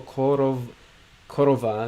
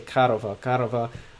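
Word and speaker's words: корова: In most words, we pronounce O as A. For example, korova, we say karova.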